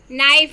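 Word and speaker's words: knife: First Wednesday में D, second sign में जी silent है, कॉम में बी साइलेंट है, नाइफ में के साइलेंट है, वॉक में एल और आवर में एच साइलेंट है।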